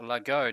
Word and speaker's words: Laghonh: I'm with Sasha Laghonh. Now, that's a very interesting name to pronounce.